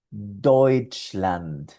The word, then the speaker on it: Deutschland: Aquí tenemos Deutschland.